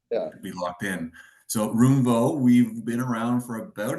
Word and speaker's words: Roomvo: Uh, so Ben from Roomvo. Um, did I say it wrong? No, no, you nailed it. You said it perfectly. Roomvo, I'll say the third time there be locked in. So, Roomvo, we've been around for about a decade and